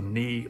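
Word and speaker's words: Naoi: Christianity I call it the knee metal way knee is spelled n-a-o-i but we'll get into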